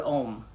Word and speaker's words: Om: if you think about the word Om, which we often recite, they say it's got 4 parts, the ooh, it's like got a 3-part syllable, and then there's a 4th part, which is the silence at the end of it.